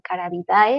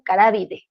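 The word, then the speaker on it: Carabidae: encontremos esta terminación, pues no la vamos a a pronunciar como caravidae, la vamos a pronunciar como carábide. Siempre que veamos esta eh terminación da es pronuncia como de.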